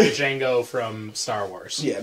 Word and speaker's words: Django: And just to clarify, we're talking about Django from Django Unchained, With a not Django, The D is silent. not Django from Star Wars.